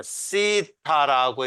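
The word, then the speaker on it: θ: 시타라고 읽어요. 시타. 그러니까 영어로 말하면 이 시타라는 것이 뭐에 해당되냐면 이거에 해당되는 거예요. 스에 해당되는, thank you 할 때 그것에 해당되는 시타.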